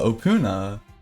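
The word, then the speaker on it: Opoona: Uh, Opuna, uh, O P O O N A, uh, it's not the easiest to pronounce.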